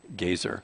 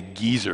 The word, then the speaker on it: Gezer: Geba as far as Gezer. I want to say geezer because I'm getting to be kind of a geezer, you know, but I think it's Gezer is the way you pronounce that.